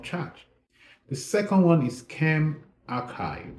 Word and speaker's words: ChemRxiv: The second one is Chem Archive. So it's spelled CHEMRXIV, Chem Archive.